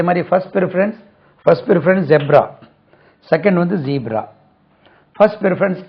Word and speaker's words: zebra: அதே மாதிரி ZEB or ZEBRA first உச்சரிப்பு ஜெப்ரா, ஜெப்ரா, ஜெப்ரா. செகண்ட் தான் ஜீப்ரா. ரெண்டு உச்சரிப்பும் அக்செப்டட்.